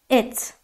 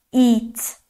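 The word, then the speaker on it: it: خب بعدی چیه بعدی ات ات ات ببینید یه ای کوتاهه ما این رو به صورت ای کشیده تلفظ نمیکنیم نمیگیم ایت ایت دقت کردید این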